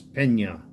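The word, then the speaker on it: Peña: Tony Pena, which is the right way to say it. It's Pena. But they left off the tilde on there.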